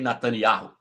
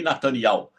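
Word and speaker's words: Netanyahu: Portugal, da Europa ali, elas não falam Iarro, como é a jornalista brasileira, elas falam ial. Daqui do Brasil, que eu já vi pronunciar o nome correto, só Bolsonaro. Bolsonaro não fala Benjamin Nataniarro, ele fala Benjamim Natanial.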